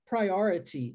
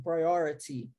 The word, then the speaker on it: priority: Agora eu quero trazer para você 2 formas de se pronunciar isso. A primeira eu acabei de falar, priority, é o T com som de T mesmo, priority.